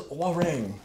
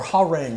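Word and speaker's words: Hwarang: Chun-Li versus Warang. Or Ha-Rang, however some people pronounce it differently. I say Warang.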